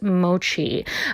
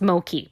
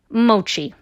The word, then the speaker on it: mochi: of white people trying to determine how to pronounce mochi.